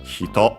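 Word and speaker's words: 人: By extension, by the way, kata can also be used as a person instead of the usual hito. Hito should be unaccented, but we'll check quickly. Yeah, unaccented.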